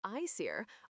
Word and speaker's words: Æsir: The Aesir, pronounced Aesir, are the principal gods dwelling in Asgard.